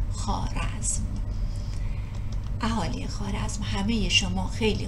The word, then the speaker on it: خوارزم: و خوارزم کما تذکرون الواو قبل الالف تکتب ولا تلفظ و لحاظا تلفظ خوارزم.